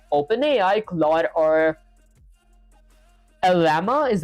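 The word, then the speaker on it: Llama: Your game sends the player message to an AI model like Open AI, cla or lama is how you pronounce it.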